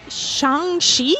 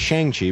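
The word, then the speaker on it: Shang-Chi: the new uh the new marvel movie shanghai shangshi yep that's how it's actually pronounced i used to think it was shang chi but it's okay and it was really good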